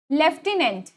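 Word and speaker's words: lieutenant: यहां पर लेफ्टिनेंट हम बोल रहे हैं। इसका प्रोनाउंस हम क्या कर रहे हैं? लेफ्टिनेंट।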